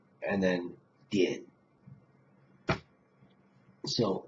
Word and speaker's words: 点: The next one is 点, 三声, third tone, 点.